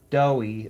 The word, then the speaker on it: Doughy: I do know that this current character she loves, Doughy, it's like Play Doh, Doughy, but it's spelled like Joey, except with a D instead of a J.